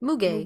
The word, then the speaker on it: muguet: Muguet.